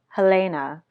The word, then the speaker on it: Helena: Helena, pronounced Helena, but known online as _Helena_ in upside-down reverse text, carefully applied liquid liner to her eternally greasy eyelids.